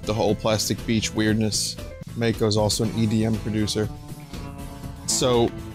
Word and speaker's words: mako: where 2d is singing he goes when the mai kai flies all right i'll say it when the